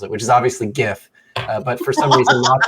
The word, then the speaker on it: GIF: which there is only one correct way to pronounce it which is obviously GIF but for some reason lots of people think it should be pronounced Jiff um so you know it's silliness but I